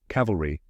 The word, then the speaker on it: cavalry: Cavalry has the word caval like in cavalier followed by re like in military.